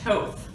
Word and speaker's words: Toth: chambers new addition to events and marketing is a lifelong resident of fountain hills i said your last name wrong that's okay we're service like that is wrong betsy don't use this toth why did i do that that's okay everyone